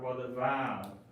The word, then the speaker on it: Vav: It sounds like a wa or a va, depending, like the way the ancient in Hebrew was pronounced. A lot of people say that it was pronounced as a W.